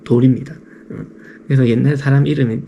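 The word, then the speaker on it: 乭: 돌이란 뜻이에요. 발음도 돌입니다.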